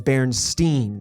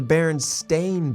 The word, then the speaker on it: Berenstain: steam part i always thought of it as berenstein that's how i always pronounced it berenstein yeah and so always pronounce